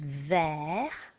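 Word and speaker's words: vert: out the e so green was ver there so we write down an 3 and then it's a which was an E and we had in hoosh which was an AA now can you hear anything else no but here's the surprise there is a T on the end of this word and it's another letter which you write but don't say T is a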